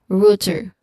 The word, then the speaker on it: router: So this word should be router. Again router. It sounds like rooteret router. This is a device that forward data packets.